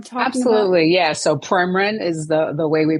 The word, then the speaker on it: Premarin: So Premarin is the way we pronounce it.